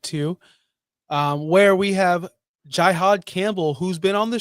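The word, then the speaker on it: Jihaad: But did I say his name wrong? I said Jihad. Yeah, Jihad as in Holy War.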